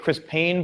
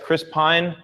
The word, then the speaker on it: Chris Pine: Pine is coming up I don't know why I keep pronouncing it Chris Payne but yes Chris Pine oh thank you man Serbia wow 3:00 a.m.